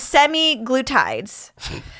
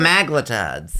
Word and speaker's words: semaglutide: Okay, so these are called semi-glutides. The kind of Semaglutides. oh, I put the emphasis on the wrong You can say syllable. however you like, but I like that better.